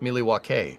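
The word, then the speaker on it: Milwaukee: not worthy yeah Allen actually it's pronounced milw which is Algonquin for the good land Ryan you know that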